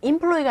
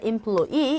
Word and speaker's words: employee: 이 단어 강세 어디 있습니까? employee가 아니라 employee. 이 부분에 강세 있어요. 그래서 발음하실 때 employee라고 이렇게 하시면 되겠죠.